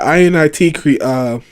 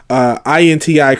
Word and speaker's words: Inti: They worked with INIT I'm sorry, I was saying it wrong the entire time. INTI creates to create Mighty Number 9.